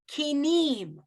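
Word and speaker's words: כינים: Kinim, emphasis on the nun.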